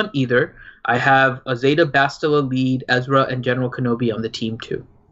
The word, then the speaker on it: Bastila: I mean, he's more useful in other aspects of the game than just an Bastia, however you pronounce her. Bastila. For Arena. BS. You have to pronounce it correctly. It's Bastia. Bastia.